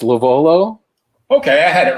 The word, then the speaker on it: LoVuolo: Tonight I'm joined by my friend Andrew, who will tell us how to pronounce his last name. It's LoVuolo.